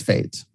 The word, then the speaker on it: FAIT: flexible average inflation targeting whose acronym is fait and which i pronounce as fate you all know the